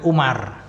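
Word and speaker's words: عمر: nah pada kata Amrin wau di situ wunya tambahan untuk membedakan antara namanya Amr dengan Umar jadi kalau ada wunya seperti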